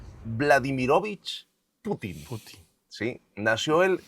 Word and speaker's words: Putin: Porque la sílaba tónica está en la U, no en la I. Putin.